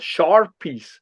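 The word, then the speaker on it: Sharpey: small fibers that are called Sharpie's fiber, like Sharpie, like the pen, kind of the way it's spelled.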